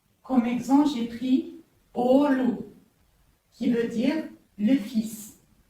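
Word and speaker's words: oğul: Alors, quand vous l'entendez, Olu, comme on a vu précédemment, Souk, elle allonge la voyelle précédente. Olu, Souk. Elle ne se prononce ni G ni D.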